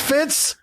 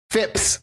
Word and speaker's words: Phipps: Didn't you just say his name was Fitz? Phipps. Phipps! P-H-I-P-S.